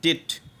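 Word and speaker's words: debt: আমরা অনেকে উচ্চারণ করব ডে কিন্তু এটা কি উচ্চারণ হবে ডেট ওকে কি উচ্চারণ হবে ডেট তারপর কি হবে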